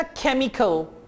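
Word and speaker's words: chemical: बिल्कुल इसी तरह दूसरी आवाज है ख, ख, जैसा कि आप कहते हैं ना केमिकल, केमिकल, केमिकल, ये दूसरी आवाज है।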